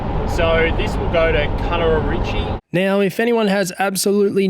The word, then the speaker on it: Nyangumarta: So this will go to Nyangumarta. Now, if anyone has absolutely no idea what I just tried to say, I don't blame you. The correct pronunciation of the town is Nyangumarta.